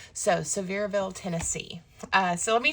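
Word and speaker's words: Sevierville: great shops also in um well I've been pronouncing it Seaverville but apparently it's Severeville. So Severeville, Tennessee.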